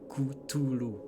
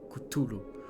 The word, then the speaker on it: Cthulhu: Cthulhu. Oui, parce qu'en fait, ça se prononce réellement comme ça. Le K doit être prononcé plus que le reste. Cthulhu.